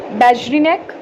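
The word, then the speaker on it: Beijerinck: अब एक आते हैं MW बेजरिनेक, इनका प्रोनाउंसिएशन बहुत अजीब है, बेजरिनेक, ठीक है।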